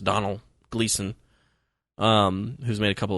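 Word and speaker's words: Domhnall Gleeson: he's he's an actor whose name i believe is pronounced donald gleeson um who's made a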